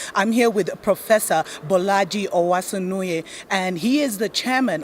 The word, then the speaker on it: Owasanoye: This is the problem with Africa, How do I pronounce your name? Owasanoye.